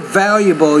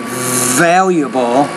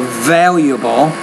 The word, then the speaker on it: valuable: of all would work valuable you're mispronouncing that word yet to pronounce the v I think more clearly valuable and then the stress is on the first syllable valuable I don't have to